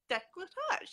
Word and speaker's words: Décolletage: Decolletage? Decolletage, yes, that's the way to pronounce that word.